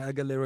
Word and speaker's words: Aguilera: Her surname rhymes with era. I. I, Uh, Christina. Christina Aguilera is the correct answer.